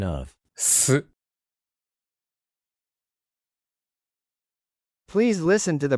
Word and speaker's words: す: Please touch the lower teeth with the tip of your tongue. S.